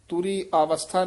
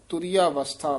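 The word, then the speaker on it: ਤੁਰੀਆਵਸਥਾ: नाल उच्चारण करना है तुरिया वस्था यानी तुरिया तो डैश देनी है अवस्था तुरी अवस्था नहीं कने तुरिया वस्था पाठ कठा है डैश लाके उच्चारण करना इथे विश्राम है सतगुरु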